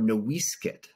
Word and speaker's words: NoiseCat: that meant something because noise cat or noiskit as the name was originally pronounced before the missionaries messed it up it nearly died out